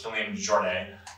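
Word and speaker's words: Kilian Jornet: So the primary author is Killian Jornet. That's, I pronounced it right, right?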